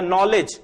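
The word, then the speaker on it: knowledge: जैसे कि नो या नॉलेज इसमें के साइलेंट होता है।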